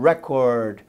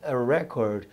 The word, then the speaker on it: record: A pronúncia, gente, depende se é substantivo ou se é verbo, certo? Se é o substantivo, é record. Se é o verbo, é record, ok? A pronúncia muda de acordo com a classe gramatical.